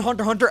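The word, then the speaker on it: Hunter × Hunter: meat on that toe do you pronounce the X in Hunter hunter absolutely not you and a hyper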